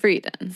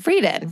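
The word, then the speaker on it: Friedan: Freeden. Freeden.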